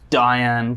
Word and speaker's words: Dayan: relevance standpoint and also the Diane kind of rhymes with Zohan which is uh which